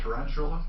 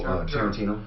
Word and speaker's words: Tarantino: His name Tarantula. Who? Tarantino.